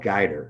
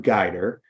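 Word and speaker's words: Guidr: have come up with is this tool called guider it's spelled g-u-i-d-r and it's a great tool it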